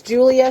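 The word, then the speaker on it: Giulia: won't link it but it's Julia spelled with a g and an it's like g i u l i a helker she's on YouTube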